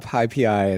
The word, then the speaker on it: PyPI: the people who make that they call that pipi and they call numpai and and so just pyx for example, right?